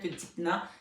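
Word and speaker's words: Dympna: Allez voir Sainte Dipna. Ça s'écrit D-Y-M-P-N-A.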